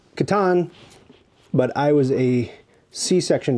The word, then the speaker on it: Catan: This one is Cities Knights of Catan, correctly pronounced Catan, but I was a C-section baby.